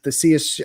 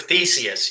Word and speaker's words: Theseus: The Theseus, I always say it wrong. The ship of Theseus.